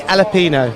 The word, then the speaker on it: Alapino: Alapino. As in jalapeno, as in chili? It's similar. You can pronounce it in the same way.